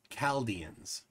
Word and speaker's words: Chaldeans: So Coffee Breath says Chaldeans is a hard C. Chaldeans.